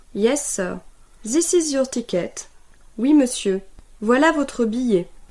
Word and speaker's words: ticket: Notice that even if the word ticket exists in French, it is pronounced Ticket.